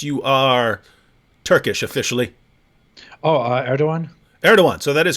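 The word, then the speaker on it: Erdoğan: asked your position on it's spelled erdogan but it's like erdogan right something like that yeah yeah yeah erdogan wait hang on hang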